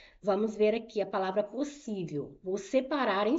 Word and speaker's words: possível: Vamos ver aqui a palavra possível. Vou separar em sílabas. Os S rr não ficam juntos, tá? Você vai separar. Então eu tenho por sí. Qual é a sílaba tônica? É o si.